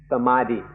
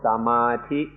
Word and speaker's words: samadhi: Now let's look at the word samadhi specifically, or it's more often pronounced by Europeans samadhi or samadhi.